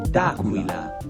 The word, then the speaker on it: D'Aquila: I've just been informed that Lou's last name is pronounced D'Aquila, and it's Italian for of the eagle.